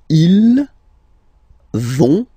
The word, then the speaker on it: ils vont: So, ils vont, final T, not pronounced.